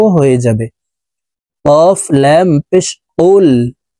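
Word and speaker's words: قُلْ: যাবে কফ লাম পেশ কুল কফকে জিহ্বার গোড়া তার বরাবর উপরের তালুর সঙ্গে লাগাইয়া উচ্চারণ করতে হবে তারপরে দেখুন এ কফ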